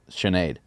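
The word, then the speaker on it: Sinéad: Speaking of weird spellings, her name is spelled Sine with a little accent mark AD, and it's Sinead. Yeah.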